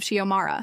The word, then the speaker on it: Xiomara: We were discussing the Constitutional Convention when she called on me again, mispronouncing my name as Zara this time, not even close to any version of Xiomara.